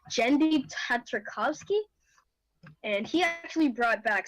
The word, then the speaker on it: Genndy Tartakovsky: no it wouldn't be because it's made by Dendy I'm sorry I find it say his name wrong genndy tartakovsky and he actually brought back samurai jack and